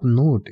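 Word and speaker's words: knot: को इंग्लिश में आप नोट या नोब कह सकते हैं के एन ओटी नोट या के एओ बी नोब दोनों में ही के साइलेंट होता है इसके अलावा जो शरीर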